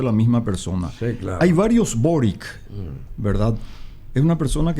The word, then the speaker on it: Boric: variables hay varios bueno allí pronuncian boris y creo que esa es la pronunciación orixe probar ya yo lo pronunció por it pero estamos hablando de la misma persona hay varios boric verdad en una persona